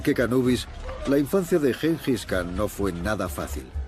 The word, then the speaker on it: Gengis: Gengis, también pronunciado Chingis, Yenghis y Jingis, originalmente Temujin, fue el más grande conquistador de toda la historia.